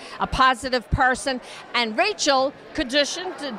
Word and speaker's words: Kadushin: And Rachel Kadushin, did I pronounce it right? Rhymes with revolution. Kadusha.